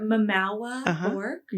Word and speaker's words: Mamawah Bourque: to adult dis wines Dr mwa B is that how you say it you said it perfectly you did without even